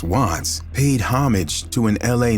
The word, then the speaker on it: Wvttz: The name WTTZ, pronounced Watts, paid homage to an